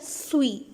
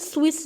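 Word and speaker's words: suis: वो है सुई सुई अब देखने से आपको लगेगा स्विस लिखा हुआ है क्योंकि अगर आप एक इंग्लिश स्पीकर है तो आपको लगेगा स्विस लिखा हुआ है हालांकि ये अगर फ्रेंच में इसको देखा जाए तो हम इसको प्रोनाउंस करते हैं सुई सुई और सुई का मतलब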